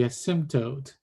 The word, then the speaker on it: asymptote: the asymptote, now the asymptote will be right here. And then the line will go like that. And this one will be the new asymptote. There's the silent P there.